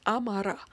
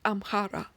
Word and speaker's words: Amhara: written as Amarin and the people who speak Amharic are known as Amara not amhara when the word Amara